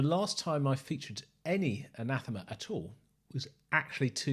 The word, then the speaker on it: Anathema: by some people as anathema but the english word anathema is pronounced anathema and it is spelt